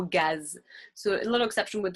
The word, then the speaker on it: gaz: Et une petite exception avec le mot gaz.